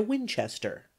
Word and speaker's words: Winchester: In order to get the exact pronunciation of this word, as it is used in this neighborhood, you want to pronounce it with a very long drawl, and the accent on the second syllable.